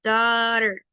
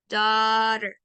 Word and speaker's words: daughter: Se podría decir que la pronunciación de daughter, como es un poco complicada de leer, se pronuncia así, daughter, daughter.